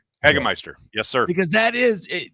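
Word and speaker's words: Hagemeister: I've always wondered also, is that how you pronounce it? Eggmeister. Eggister.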